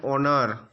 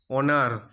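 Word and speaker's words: honour: এ একটি ভয়েল সাউন্ড তাই এন বসেছে এান অনার অনার এখানে এইচ এর উচ্চারণটি অ এর মত এইচ এর উচ্চারণটি অ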